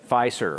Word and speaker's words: Fiserv: Now, moving along to the other one here, Fiserv, how to pronounce it? Fiserv. Fiserv.